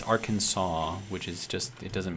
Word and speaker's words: Arkansas: But you know how, like, let's say, take Arkansas, right? If you look at the way that it's spelled, it's Arkansas, right? But it's Arkansas, which is just, it doesn't make sense with the way that it's spelled.